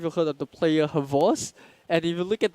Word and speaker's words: XBOCT: I'm not sure if you've heard of the player Havos, and if you look at the way the Havos is spelled, is XBOCT, but it's pronounced like everyone calls him Havos.